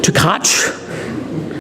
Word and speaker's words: Tkach: The first thing I want to say about today's speaker is how to pronounce his name. Tkach.